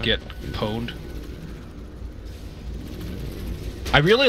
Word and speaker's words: pwned: There's already a spelling for pawned. If it was pwned, it would have an O in there, though. Pwned? Right? Yeah. Right. So I say pwned. The O is silent.